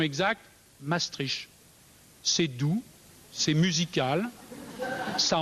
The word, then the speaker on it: Maastricht: fait pas peur et ceux qui sont plutôt content disent plutôt la stricte ses strictes c'est sec c'est contraignant c'est presque menaçant je crains que la prononciation exacte pour être honnête intellectuellement ne soit peut-être pas du côté de la douceur mais pardonnez moi si